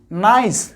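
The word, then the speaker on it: nice: নাইক না বলে। কেন? আমরা আগেই বলেছি যদি সি এর পরে ই ওয়াই অথবা ই থাকে তাহলে সেই উচ্চারণটা হবে সি বা সয়ের মতো।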